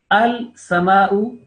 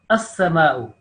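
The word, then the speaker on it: السماء: But al-sama'u, as-sama'u. This lam is mixed with the seen, and lam is written but is silent.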